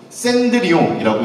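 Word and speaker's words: Cendrillon: 불홀로는 샌드리옹이라고 읽습니다.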